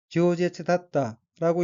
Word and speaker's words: 饒舌: 다음 어귀는 한자가 한국어로 유설이고 각기 넉넉할 유 혀설자이고 일본어로는 지오제츠다tta라고 읽으며 지오제츠다tta는 유솔, 다변, 수다스러움이란 뜻의 명사 또는 형용동사인 지오제츠 플러스 다타, 이었다로 된 어귀로 지오제츠다타는 수다스러웠다, 말이 많았다는 의미입니다.